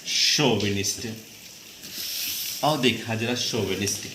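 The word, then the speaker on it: chauvinist: Pronunciation देख लेना, नहीं तो यहाँ चाविनिस्ट ऐसा कुछ ना लगाने लगना कि सी एस से चा बनाते हैं, शोविनिस्ट।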